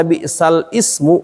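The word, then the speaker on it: بئس الاسم: Bi'salismu. Kayak gini kan? Karena dia nggak terbaca. Nah, kayak gini bacanya. Bi'salismu, jadinya begitu. Jadi bukan dibaca bi'sal ismu, karena dia hamzahnya tadinya hamzah wasol.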